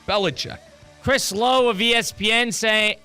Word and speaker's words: Belichick: Belichick.